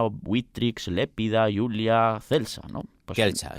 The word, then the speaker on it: Celsa: Kelsa, yo diría Kelsa o Kelsa, pero bueno, lo dejamos